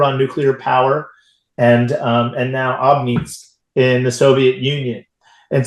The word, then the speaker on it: Obninsk: You have, I think it was Obninsk. Is that how I pronounce it? Obninsk.